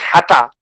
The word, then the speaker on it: Hatter: the hatter turning up he is of course pronounced hatta in this uh the looking glass portion but he is actually